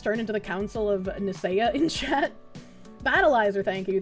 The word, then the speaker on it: Nicaea: Nicaea is pronounced with a K sound. Oh, okay. Nicaea.